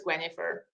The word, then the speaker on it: Gwenhifer: to have it easier German way of um pronouncing it as quenifer so that's how she how she got her